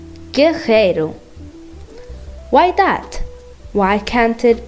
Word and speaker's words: guerreiro: and in other cases people are pronouncing the R like H, carro, guerreiro.